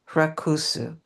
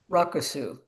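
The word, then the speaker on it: rakusu: And this smaller version originally created in China for travel and work in the fields is called racu. Is that correct? Racusu.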